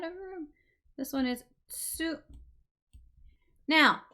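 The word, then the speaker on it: つ: This one is tsu. Now, this one is not tu, and it's also not su. The T and the S are both pronounced tsu, tsu.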